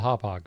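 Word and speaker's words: Hauppauge: so long that's why we know how to pronounce it properly that random City Inn in New York yeah it's called hauppage people another early one would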